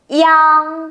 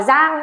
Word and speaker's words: yang: Yang, không đọc là giang nhá, y với an mà, đọc lại cho cô nhá.